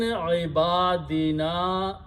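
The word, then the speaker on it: عبادنا: Again, there is a mad on this one, so you have to stretch. Ibadina, because there is a hamza after that, and hamza will force a mad on that alif.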